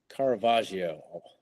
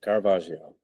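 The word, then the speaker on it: Caravaggio: Um, there's a work uh, oil painting by Carvajio. I want to say I'm pronouncing his name. Carvajio.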